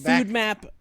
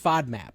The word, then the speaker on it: FODMAP: Food map. Actually, I think it's pronounced FODMAP. F O D. It's only one O.